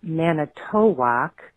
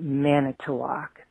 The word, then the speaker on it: Manitowoc: can tell you that the correct pronunciation is not Manitowoc as you were using but Manitowoc rice and Manitowoc company thought